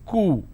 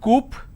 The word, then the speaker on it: coup: plurality determination derivatives apartment disagreement dislodge c-o-u-p is coo it's not coop or kaup it's cool isolation quarantine gesture a lot of people pronounce this as gesture it's not gesture just